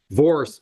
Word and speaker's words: Vorce: How do you say the name, Judge? Vorce. It's like force, but I got a file and we don't know.